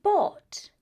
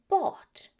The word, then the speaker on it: bought: In this situation, the silent letters are the G and the H. So what we say is caught and bought.